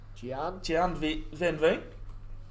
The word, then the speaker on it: Gian van Veen: Gian Van Veen.